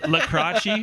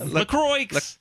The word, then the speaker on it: LaCroix: La Croquis. Oh my goodness. LaCroix.